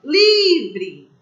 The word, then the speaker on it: livre: O E não faz parte da sílaba tônica. Livre. Ela é uma paroxítona.